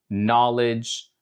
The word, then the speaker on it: knowledge: Sometimes this letter can be silent, and it might be a bit troublesome for some beginners out there. We call it the silent K in English. No, knowledge, stuff like words like that use a K in the beginning of the word, but it's actually silent.